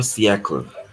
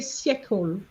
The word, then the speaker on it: siècle: No, you tend to say siècle. Siècle. You stop at the L. Because remember, an E at the end with no accent is silent. Okay. So you're not going to pronounce it. Au 19e siècle.